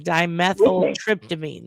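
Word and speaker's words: Dimethyltryptamine: Dimethyl Tryptoamine.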